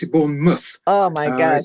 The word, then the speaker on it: Bournemouth: pronounce pronounce it correct Bourn mouth yeah because born mouth we pronounce it born Muth oh my God it's very strange I know